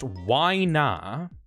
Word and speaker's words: Winna: Next one is Winna, pronounced Wina, by Caprasol.